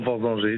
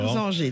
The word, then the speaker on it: Vorsanger: Alors, on dit Vorsanger, comment je le prononce Clément? Bonjour Clément. Bonjour à tous, on peut dire Clément Vorsanger du coup. Vorsanger, d'accord. Vorsanger, très bien.